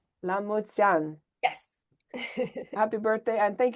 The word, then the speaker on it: La mulți ani: La mulți ani? La mulți ani. La mulți ani.